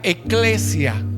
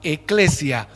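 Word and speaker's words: ἐκκλησία: iglesia veámoslo en griego en griego iglesia se pronuncia eclesia y se escribe así e k k l e s i A eclesia qué significa asamblea o convocación y proviene del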